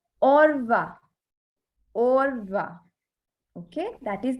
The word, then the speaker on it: au revoir: So to say goodbye, we use au revoir. Okay. It's au revoir. Au revoir. Okay. That is the pronunciation.